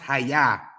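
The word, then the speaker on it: היה: So brother Jesse, literally, the Jews have been calling God I am, and it's pronounced Hayah.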